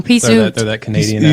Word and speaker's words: Peaceoot: Peaceoot.